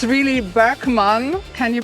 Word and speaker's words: Boeckmann: Here he is, Boeckmann, or it's really Boeckmann. Can you pronounce that? Well, out here they say Boeckmann. I think in German it's Boeckmann. Something close to that.